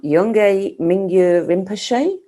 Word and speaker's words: Yongey Mingyur Rinpoche: Now, there's different ways of pronouncing the name of the author. Yongey Mingyur Rinpoche?